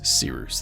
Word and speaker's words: Cyrus: So, without further ado, my name is Cyrus. It's spelled like Cyrus, pronounced like Sea Rooster. Just take out the tur.